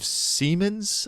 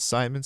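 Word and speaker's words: Siemens: And just recently in New York, the Spanish the Spanish CEO, not like the main CEO of Seammens, I think it's pronounced, it's German, it's not Simons, Seammens, which is okay.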